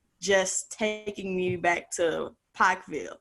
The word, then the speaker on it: Pikeville: Did I say it right? Pikeville. You're slowing it down too much, Tiffany. I know. I gotta speed it up. I used to say it. I just say it's Pikeville. I know I'm saying it right. wrong. That's closer. It's closer. We had the privilege of